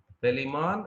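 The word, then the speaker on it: Palaemon: Pelimon is said to be freshwater prawn. Okay, so that see the pronunciation, Pelimon, freshwater prawn.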